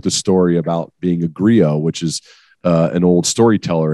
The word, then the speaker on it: griot: 2020, I wrote the story about being a griot, which is an old storyteller.